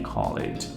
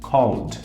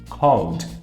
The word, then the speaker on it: called: passado ele com o Ed a gente não pronuncia ele Call it a gente fala Called Called por quê Porque esse Ed esse essas duas